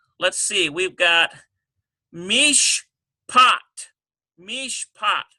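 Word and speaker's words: משפט: Number 8, let's see, we've got mishpat. Mishpat. M-I-S-H-P-A-T. Well, that's got to be a dagesh lean because there's no doubling. We just have one P sound.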